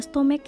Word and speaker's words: stomach: kasus tomek ini berbeda tidak dibaca dengan akhiran CH melainkan dengan akhiran k jadi pengucapan yang benar